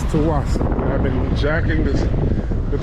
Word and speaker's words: Tsawwassen: How do you pronounce the name of the ferry terminal? Ferry terminal Tsawwassen. Tsawwassen. Tsawwassen. Again, it's Tsawwassen.